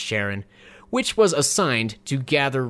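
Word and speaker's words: Charon: It's pronounced Sharon, which was assigned to gather raw genetic material from the battlefields of the ancient Greeks.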